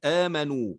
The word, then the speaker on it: آمنوا: كذلك نقول آمنوا ولا اعتبار للألف اللي هي اللي بعد الواو.